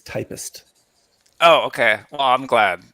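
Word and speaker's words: Typst: issues I haven't tried do you pronounce it typist or tip typist so when saw it uh and read it I read tips but I've been assured that it is typist oh okay well I'm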